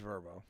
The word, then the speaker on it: Vrbo: It is. It's Verbbo. Yeah, it's it's a travel app. Airbnb. Yeah. Yeah. But I thought you pronounced it just VBO. Just call it Verbbo. I've never heard anybody say Verbbo. That's what they say it on the commercial.